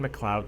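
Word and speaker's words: MacLeod: this dude's last name I think it's Kevin McLoud like that's the either Irish or Scottish way to pronounce that let me make sure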